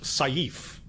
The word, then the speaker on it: sif: Uh, and the word was sif. Julian, God bless him, tries to help me out by saying, "Yeah, it's how you would kind of pronounce the word safe with an Australian accent."